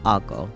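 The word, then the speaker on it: あご: kushu and conai regions pronounced ago which is exactly how I've been saying it yippe aod Dashi soupstock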